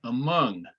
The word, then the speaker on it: among: But yeah, for example, the word among. Mung is the accented syllable, so the sound there is Among.